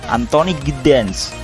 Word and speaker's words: Anthony Giddens: Itu bacanya Anthony Giddens.